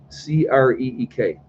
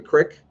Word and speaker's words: creek: be it's spelled creek c-r-e-e-k who cares is the world going to end if somebody calls it a crick as opposed to a creek is that really good